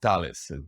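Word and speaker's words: Thales: 1999 okay tell us talents or tales depends if if you're pronouncing the french way or the italian way you know there is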